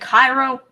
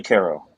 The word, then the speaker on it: Cairo: down there isn't it Cairo no it's actually Cairo I guess that's just how it is in Illinois yep it's one of those things in Illinois where we were challenged at pronounce everything wrong typical Illinois it's kind of